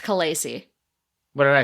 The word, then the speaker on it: khaleesi: what did i say khaleesi that's how a lot of people pronounce it but according to the conlang expert who developed the dothraki language it's supposed to be pronounced kalasie and pronouncing it khaleesi